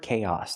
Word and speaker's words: chaos: Remember the word chaos, the pronunciation, it doesn't match the spelling chaos. Use the c- sound like cake plus the long a k and then the a sound like hot and stop. Chaos.